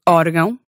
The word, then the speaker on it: órgão: In words like órgão? In those cases, the acute accent always wins. So it's órgão and not órgão.